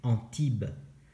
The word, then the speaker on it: Antibes: Antibes, no se dice así, se dice Antibes.